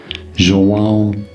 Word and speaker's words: João: In Brazilian Portuguese, it is said as João Gilberto. Gilberto. So it's a Gil. Yeah, Gilberto. João Gilberto. You got to put it in your nose.